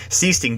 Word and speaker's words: Sichting: I do believe that Sichting is in the game, and I have a terrible time pronouncing his name, even though it's just Sichting.